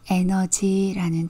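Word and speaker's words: energy: 이런 스펠링이에요이는 애 소리가나요 그리고 중간에 있는이는 어 소리가나요 그래서 영어로는 에너지 그래요 우리말로는 영어로는 에다가 강세를 주시면 돼요 에너지 에너지 이렇게 발음하시면 됩니다 2로 시작되는 단어 중에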